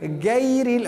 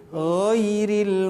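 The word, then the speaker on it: غَيْرِ: Tidak boleh gair, itu huruf G Indonesia kalau begitu dipakai. Gairil, tidak boleh. Harus ghairil maghdubi.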